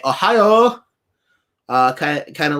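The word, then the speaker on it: おはよう: and it it it sounds like the word ohio like uh in in this as in the state but um you're actually saying it kind of with the bottom of your mouth and the back of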